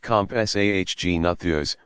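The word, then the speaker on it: Compsognathus: been the Agnetha s-- pronounced comp SAH G nathers which was only about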